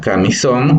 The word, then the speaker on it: camisón: La palabra camisón igual se divide en 3 sílabas, donde la sílaba tónica o la que tiene mayor entonación es son, porque tiene nuevamente en este caso tiene un acento gráfico a través de la tilde.